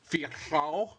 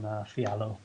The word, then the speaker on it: Fialho: It's Portuguese, so Fialho, something like that.